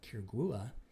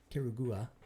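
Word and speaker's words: Quiriguá: We're not going to declare positively that the ruins of Quirigua, right, Quirigua, see if you can pronounce that 10 times fast.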